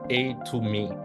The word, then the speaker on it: Atome: it really means right so atomy actually means a to me right and what does a stands for it